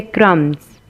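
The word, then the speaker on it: crumbs: सो the silent letter is इन the word क्रम्स एंड वि वन इज the silent letter that is be when you से क्रम्स you don't say क्रम्स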